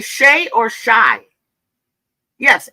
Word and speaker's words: Shai: Ti, do I say Shay or Shai? Yes. H A I. Yeah, Paul. Thank you. It's Shay. Shay. So, I say Shay then, right, guys?